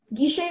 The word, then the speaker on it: guichet: The only pronunciation is guichet.